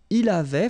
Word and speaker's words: il avait: Il avait, final T not pronounced.